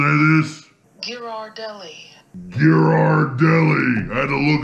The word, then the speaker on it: Ghirardelli: I gotta go to the pronunciation on this. This is the new ultimate chocolate handcrafted... How do you say this? Ghirardelli.